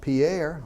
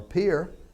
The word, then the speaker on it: Pierre: I said, it's not going to be a problem having a name like I've got, Pierre or Pierre, because in Georgia, Pierre's French for Bubba.